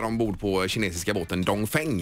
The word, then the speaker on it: Dong Feng: bord på kinesiska båten dong Feng är det rätt uttalat Martin dong Fong dong Fong säger vi då Ja Ja men det